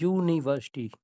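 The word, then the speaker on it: university: जब आप इसका प्रोनंसिएशन करेंगे तो इसकी जो आवाज निकलती है वो य से निकलती है। यूनिवर्सिटी।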